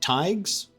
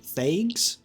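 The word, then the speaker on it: thaig: gonna make a note of that that is pronounced tags my brain would have assumed fagues but it's a it's a th not a the uh thigs in order to do something with them then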